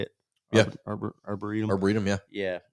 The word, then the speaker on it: arboretum: Arboretum. Arboretum, yeah. Yeah, it's still kind of you can drive up there just a little ways and it's closed Yeah. still. Yeah. We went to the Arboretum on Mother's Day.